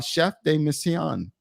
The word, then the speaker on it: chef de mission: 57 seconds with uh chef de missan I said it right Chef you're good okay I'm not saying it